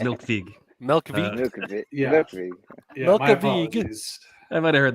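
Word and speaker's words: Melkweg: of and an encore I heard it's pronounced milk V milk I might have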